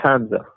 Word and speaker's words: Hamza: How do you pronounce your name again? I want to make sure I say it correctly. So it's Hamza. Hamza.